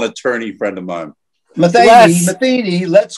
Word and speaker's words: Metheny: I hate that Pat Metheny. All right, Les. Is it Pat Metheny or Pat Metheny?